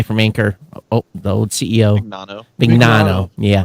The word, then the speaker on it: Mignano: He says, hey, regarding and I pronounce his name wrong every time, Mignano, or how do you pronounce his name? The guy from Anchor, the old CEO. Mignano.